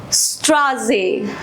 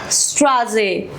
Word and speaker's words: Straße: I told you Z, Z, T is, E is silent here। Straße, Straße, street।